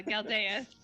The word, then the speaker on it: Galdeus: Like Gladys and Galdeus? Yeah, Galdeus. and basically asks if they